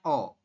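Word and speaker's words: 어: Ya, kemudian ini tulisan Latinnya itu eo ya, seperti ini. Tapi kita bacanya o.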